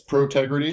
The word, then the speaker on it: Protegrity: When you say it slower, you get it. It's Protegrity.